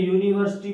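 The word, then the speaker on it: university: अब देखिए यूनिवर्सिटी को पढ़ें तो ऐसे लिखा जाएगा इसको, यूनिवर्सिटी,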